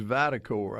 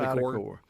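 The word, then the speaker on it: VitalCore: And by the way, the name of our health care provider is Vitacor. I didn't say it correctly, but Vitacor.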